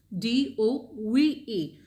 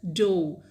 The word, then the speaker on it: dove: Now, how will we pronounce? Dove. Paroma dove into the swimming pool. It is pronounced as dove. Dove means jumped. Now, a kind of bird. How will we pronounce that one? Dove. Dove is a kind of bird. And dove means to jump.